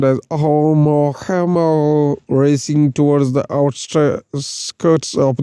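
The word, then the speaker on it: ʻOumuamua: The artist's illustrations show the wayward interstellar visitor Oumuamua, pronounced as Oumuamua, racing towards the outskirts of our solar system.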